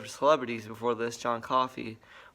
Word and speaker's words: Coffey: celebrities before this john coffey well not the name it's like john coffey yeah it's spelled different than coffee i wish funko could